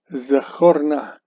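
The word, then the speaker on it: זְכָר־נָא: So this is a closed, unaccented syllable. Instead of reading Zechar, we read Zechor.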